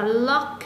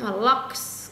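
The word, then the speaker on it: loch: Ở đây mình có đọc là lock, locks cũng được.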